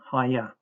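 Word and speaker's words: אהיה: H1961 hya as a first person imperfect verb is pronounced with three syllables.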